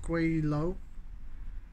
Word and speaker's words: Gweilo: with stand by caller uh guilo pronounced quailo cantonese term meaning ghost chap number two cantonese